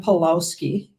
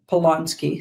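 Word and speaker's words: Polanski: We'll get back to Roman Palowski. Palonsky, sorry, saying his name wrong there.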